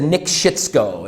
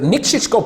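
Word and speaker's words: Nikšićko: pronounce lots of foreigners when you meet a foreigner have them say nick schichko okay they're not going to say it correctly it's very difficult for a foreigner but niksico pivo is actually a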